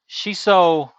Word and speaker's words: shiso: goldie uh welcome in not chiso peppers uh shiso the herb uh it is spelled